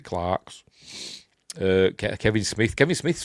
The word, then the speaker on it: Clerks: Uh oh Clarks. or Clerks, however you want to pronounce it. Pronounce it Clarks.